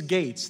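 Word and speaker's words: Gaetz: Is it Gats or I yield to the gentleman from Florida for pronunciation purposes only? I thank the gentleman for yielding. It's Gates. Think like open gates.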